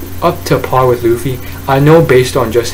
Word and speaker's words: Luffy: Luffy pretty much revealing to everyone who has yet to realize that this guy is Luffy, not Lucy, or apparently people, the Japanese pronunciation is Luchi, but it's a very